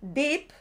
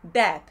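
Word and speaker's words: Depp: e Johnny dep dep Porque si decís Johnny Deep como muy bien dice Víctor pues decí Johnny profundo sería profundo os pongo también Cómo se escribe profundo sería d de Dinamarca doble e de España y p de Pamplona Deep profundo pero en este caso es Johnny dep e eh eh Y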